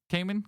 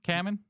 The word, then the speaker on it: Kamen: I saying it right Cayman camon I I say common I I'm probably wrong I don't know like Ramen I think it's like Ramen with a K how do you say